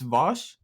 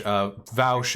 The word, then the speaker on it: Vaush: It's Vosh. Yeah, it's Vosh. Vaush is typically what people who don't like me call me.